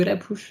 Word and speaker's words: La Push: Mais pour avoir du coup une vraie prononciation, ils prononcent le la comme ils prononceraient un la français.